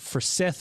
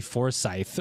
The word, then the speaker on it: Forsyth: So talk to us about Forsyth, or if you're looking at the words phonetically, Forsyth, right?